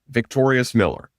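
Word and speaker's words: Vyctorius Miller: This is the brand new basketball top 50 recruit in the 2024 recruiting class, with an incredible name, Victorious Miller. That's how you pronounce it.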